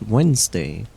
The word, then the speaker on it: Wednesday: Because Wednesday in English is written wetness day, but it is pronounced Wednesday, and that's stupid.